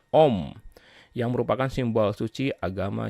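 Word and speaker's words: ॐ: Dan ketika simbol dari ketiga dewa tersebut digabungkan, maka akan menjadi Aum, dibacanya Om, yang merupakan simbol suci agama Hindu.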